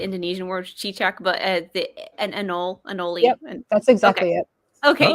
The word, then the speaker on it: anole: I don't actually know how to pronounce it because I know the Indonesian word chichak, but an anole.